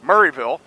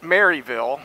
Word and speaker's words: Maryville: the Smoky Mountain one, which is in Murrayville, not Maryville, which is what I said it when I first came out here. I said, hey, let's go to Maryville.